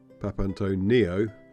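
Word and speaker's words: Papantoniou: on the right or papano Neo as I was as old as how is pronounced with the emphasis on the Neo as supposed to batony but as they change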